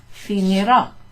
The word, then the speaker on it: finirò: Finirò. We've still got the accent, so that's a clipped kind of pronunciation, it's short. Finirò I compiti la settimana prossima.